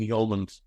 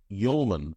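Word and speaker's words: Hjulmand: of mindset and um Morton yolan or actually Morton yolman I'm told the is the actual pronunciation um he hits an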